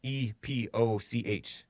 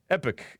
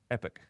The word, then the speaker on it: Epoch: America this epic times e P och times but that if you see the pronunciation things yeah epic is how the American pronunciation is epic eh P uhk epic